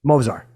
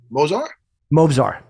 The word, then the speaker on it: Movsar: The first, how do you pronounce his first name? Movsar. Movsar.